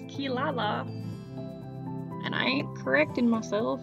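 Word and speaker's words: Kirara: don't really know why in japanese that r a sounds like la and not rob but that is how it is pronounced kilala and i ain't correcting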